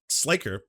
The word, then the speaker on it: Sliker: Sliker is how it's pronounced.